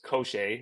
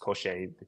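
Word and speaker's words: Cosce: now at welterweight his wins are against Lewis kosher or kosi it's actually pronounced koser he told me that that's how it's pronounced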